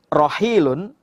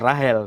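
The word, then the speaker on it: راحيل: Tapi kalau bahasa Arabnya ya Rohil, bacanya bukan Rahel.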